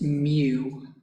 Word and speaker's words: mu: see the population one it looks like this pronounced mu it's spelled mu this is population mean before